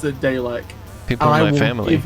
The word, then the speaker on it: Dalek: Oh, there's a Dalek. Luckily, my Lazarus chip took me back. And far enough to there's start Data from Star Trek. Elena. What? Elena. It's pronounced Dalek.